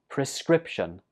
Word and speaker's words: prescription: Number 11 is a word that's very commonly used at the doctors, and it's pronounced prescription. Prescription. This word has 3 syllables and the stress goes on the 2nd syllable.